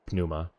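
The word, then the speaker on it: Pneuma: wow whoa hang on there's no puff of air from French P so it's really soft yeah um they call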